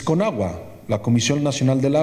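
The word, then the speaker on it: Conagua: do you say that lyric right it's konagua La Commercial National de la agua and as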